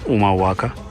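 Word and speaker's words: Humahuaca: So, we descended from the mountains and arrived in the town of Umaaka. Yes, it's pronounced Umaaka.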